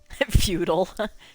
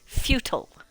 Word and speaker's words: futile: I believe there are differing opinions on the pronunciation. But yeah, I think British is futile and American is futile. But Star Trek changed all that because now everybody says futile.